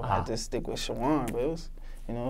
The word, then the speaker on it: Chowan: So you graduated high school, and you got that scholarship for football at, how do you pronounce that college? Chowan University.